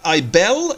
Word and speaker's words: Ibel: But you might have seen Ibel, or Ibel, actually, is how you pronounce this, in a couple of our other episodes during the intro and outro.